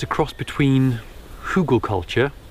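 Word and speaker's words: Hügelkultur: it's a cross between hugall culture I think that's how it's said it's German for for Hill culture or Mound culture and that's where you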